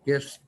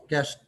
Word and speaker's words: Gist: markers placed in three guest guest settlements by the way it's a gis t and it's pronounced g-u-e-s-t and when you look